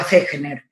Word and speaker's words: Fechner: Fechner se escribe y se pronuncia Fechner en alemán.